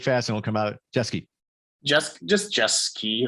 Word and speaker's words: Jeske: Is it Jeske? I always want to see Jeske. That's how I program my mind. Am I saying it right? Jeske. It's not quite jet ski, but it's just as fun.